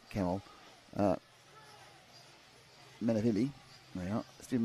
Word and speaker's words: Kemal: That C at the front of a name can get pronounced in a number of different ways depending on the language it's originated. So it's I'll say Kemal Menavili, there we are,